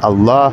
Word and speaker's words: Allah: di sini Kenapa menyebut Allah gitu karena memang pelafalan didikannya seperti itu karena di situ adalah apa namanya Abdul jalalah gitu kan ada lam di sana yang tebal nah Masalahnya kalau masalah